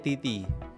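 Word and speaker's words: 滴滴: Kalau bahasa Cina itu bukan Didi bacanya ya. Tulisannya Didi tapi bacanya Titi titi Titi titi.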